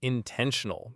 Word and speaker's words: intentional: Intentional is in-ten-tion-al. The stress is on the second syllable again. Ten is the part that carries the weight.